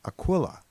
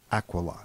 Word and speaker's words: Aquila: Now you might know this constellation as Aquila, but the correct pronunciation is actually Aquila.